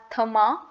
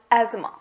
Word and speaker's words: asthma: pronounce it wrong and the th in this word is completely silent it is not called as therma it is called as asthma asthma the correct pronunciation of this word is asthma just feels tight your